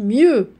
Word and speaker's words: mieux: eux me jade h mieux voilà mieux très bien la lettre x ne se prononcent pas mieux d'accord voilà alors après on va passer 2 2 la lettre x est muette noah voilà la lettre